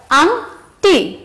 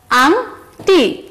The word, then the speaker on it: আংটি: এরপর আংটি, আবার বলো আংটি, আয়ের পর আমরা অং ধ্বনি উচ্চারণ করছি, কি ধ্বনি, অং, তাহলে আমরা শিং এবং আংটি এ দুটোতে অং ধ্বনি পাচ্ছি, এই হচ্ছে অং ধ্বনি।